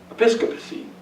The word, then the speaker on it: episcopacy: So, the common fight between episcopacy, that's how you say it actually, and Presbyterianism